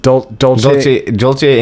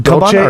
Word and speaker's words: Dolce: And it's this guy for, how do you pronounce it? Dolce and Gabbana? Dolce.